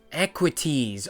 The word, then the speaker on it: Equites: right there an engine sound anyway it's inequities equities okay I got it thank you valid for that pronunciation equities wait the damage to the leg here I